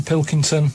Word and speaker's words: Pilkington: Just the Pilkington. They can't say it. I don't know what's wrong. It's so easy. It's spelled as it looks.